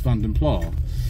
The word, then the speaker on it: Vanden Plas: for um British Leland they used to call these cars vandon pla in the material now the pronunciation was used there is actually is actually not the only acceptable one there are three acceptable pronunciations and people tell me when I use this one but I'm wrong basically I'm not wrong and they're not wrong and it's basically the question is picking whichever one you want because there